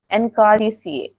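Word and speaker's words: Anacardiaceae: अच्छा, ये काफियों को प्रोनाउंस करने में दिक्कत आती है. एनकार्डिसिए. ठीक है, एनकार्डिसिए. एना ने कार ली और उसको हो गया डीसीए.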